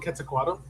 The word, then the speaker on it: Quetzalcoatl: No, there's a lot of different pronunciations that people can use, and I usually go with QUETZALCOATL. QUETZALCOATL. It's easier to say.